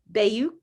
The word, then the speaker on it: Bayuk: We were just talking about this, but I am here with Emily Bayuk.